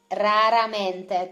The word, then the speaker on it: raramente: Raramente. This is the nightmare of the people who cannot pronounce the R.